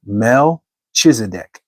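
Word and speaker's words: Melchizedek: This is King Melch. I guess that's how you would say his name. Melchisedc.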